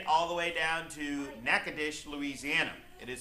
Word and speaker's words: Natchitoches: We now visit all the way down to Natchitoches, Louisiana. It is spelled Natchitoches for those people that don't know how to talk.